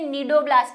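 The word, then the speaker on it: cnidoblast: और यहाँ पे भी ये निडोब्लास्ट है, ये निडोब्लास्ट नहीं है, ये सी साइलेंट है, समझ गए ना, इसका एन साइलेंट मत कर देना।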